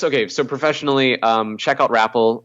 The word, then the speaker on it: Wrapal: Anyway, I guess, okay, so professionally, check out Rapple. Obviously, it's WRAPAL, like Rap Pal. I hate to say it, but that's how it's spelled, .com.